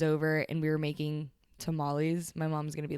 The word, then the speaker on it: tamales: and we were making tamales. My mom's gonna be like, mija. But I pronounced tamales and not tamales when I was like speaking Spanish, and my mom was like, mija, tamales.